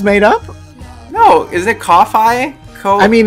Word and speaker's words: Ko-fi: No, is it Ko-Fi? I mean, it's spelled Ko-Fi for SEO purposes, but it is absolutely, I believe, intended to be pronounced coffee.